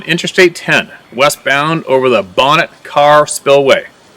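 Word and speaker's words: Bonnet Carré: was traveling on Interstate 10 westbound over the bonnet car Spillway pronuncation Bon Cary I was sitting in the left rear Pastor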